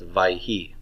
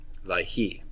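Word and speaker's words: וַיְהִי: Okay, WCIs are always past, so we'll pronounce this as vayhi, vayhi.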